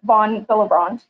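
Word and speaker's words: von Willebrand: contributions to hematology um and so it's actually pronounced um von bilibrand so we did have a code for this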